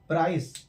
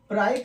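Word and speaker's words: price: यहां पर प्राइस, तो इसको हम प्राइक नहीं बोलते हैं, इसको हम बोलते हैं प्राइस। सी है और सी के बाद ई आ गया, तो ये सी का साउंड हो गया सा, तो ये हो गया प्राइस।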